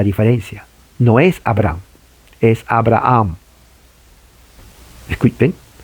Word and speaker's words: Abraham: No es Abraham, es Abraham. Escuchen. Abraham, Abraham. Abraham, Abraham. Entonces tiene que hacer énfasis en la última sílaba.